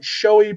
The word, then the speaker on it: SCHJOAY: videos, production company was called Showy Productions, but it's spelled SCHJOAY, Cool.